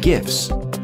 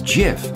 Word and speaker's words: GIF: I'm going to show you how to create GIF animations, more commonly called GIFs. The guy who invented it, Steve Wilhite, said in 2013 that the correct pronunciation is GIF, like in giraffe.